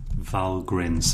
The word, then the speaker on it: valgrind: a tool called valgrind I think it's pronounced vowel grins some sort of Viking name i I can't use